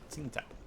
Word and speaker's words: Tsingtao: It's pronounced that way. Tsingtao.